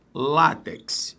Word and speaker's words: látex: O primeiro passo é o seguinte. Não errar a sílaba tônica, né? Se eu falar látex, aí deu rolo. Não, é látex. Então, se é látex, a sílaba tônica, concentre. É o lá, é uma paroxítona.